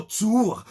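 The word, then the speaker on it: צור: Le mot rocher en hébreu, c'est la traduction du mot Tsour. Tsour s'écrit T-S-U-W-R.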